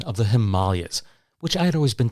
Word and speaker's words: Himalayas: One other term that he used, which I completely understood, was his pronunciation of the Himalayas, which I had always been taught was the Himalayas.